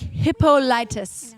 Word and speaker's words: Hippolytus: punishing mortals like Hippolytus.